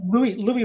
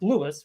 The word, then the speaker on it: Louis: I don't know anything about the same way that Louis Rossman thinks his name is pronounced Lewis when it's not. He's wrong. He's wrong about his own name.